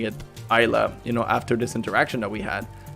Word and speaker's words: Islay: knowledgeable on whiskeys, and he told me that like Isla is a Gaelic word, and in Gaelic you don't pronounce it Islay, you pronounce it Isla.